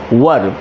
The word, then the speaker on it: were: वैसे तो पिछले कई वीडियोस में मैंने आपको बताया है कि WERE का उच्चारण वेयर नहीं होता, the correct pronunciation is वर।